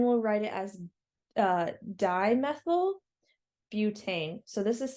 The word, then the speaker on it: butane: Now this time we have 4 carbons, so it's bute or but it's pronounced butane.